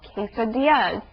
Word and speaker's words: quesadilla: Well, this part of the article also teaches us about quesadillas. That's another Spanish word with two L's together.